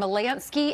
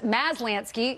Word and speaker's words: Maslansky: Shimkus, Fox News contributor and Gutfeld co-host Kat Timpf, and pollster and Malansky and Partners, Maslansky. I used to say that wrong.